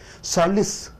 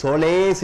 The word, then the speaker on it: solace: அடுத்ததாக சாலிஸ். இது SOLACE, சோலேஸ் என்று சொல்லக்கூடாது, சாலிஸ் என்று சொல்ல வேண்டும். சாலிஸ்ல பார்த்தீங்கன்னா 2 உச்சரிப்பு. நீங்க முன்னாடி இருக்கக்கூடிய, ஏன்னா பெயர் சொல்லாக இருக்கிற காரணத்தினாலே முதல் சத்தத்துக்கு அதிக ஒலியை கொடுக்கிறீர்கள்.